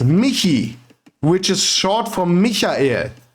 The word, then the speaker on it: Michi: I would like to think that the name is not Mii, but it is actually pronounced Miki, which is short for Mika, the German version of the name Michael.